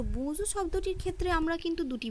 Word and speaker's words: bonjour: তো বোঁজু শব্দটির ক্ষেত্রে আমরা কিন্তু দুটি বিষয় লক্ষ্য করব। এক, সেটা হচ্ছে শেষে আর আছে অর্থাৎ কনসোনেন্ট আছে, তাই শব্দটি সম্পূর্ণ উচ্চারণ হলো না, এবং শব্দটির মধ্যে এন